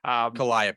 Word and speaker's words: Calliope: I'm mispronouncing that. Calliope.